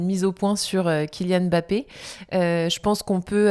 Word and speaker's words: Mbappé: Et donc on prononce Kilian Mbappé MB. C'est lui qui a dit que ça se prononçait comme ça.